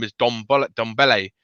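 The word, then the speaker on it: Ndombele: name is don bullet dombele you don't pronounce the n it's just pronounced don belle because it's a silent n and the i think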